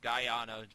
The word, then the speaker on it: Guyana: Guyana. That's how it's pronounced.